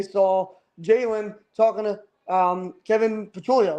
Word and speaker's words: Patullo: Because like you said, as they were panning the cameras, they saw Jalen talking to Kevin Patullo, right?